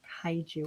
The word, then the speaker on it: kaiju: How How did did Melissa control the kaiju in Crushed? Kaiju. Are we pronouncing that correctly?